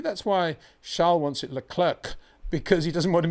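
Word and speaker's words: Leclerc: charl has clarified that you do pronounce the C okay he has and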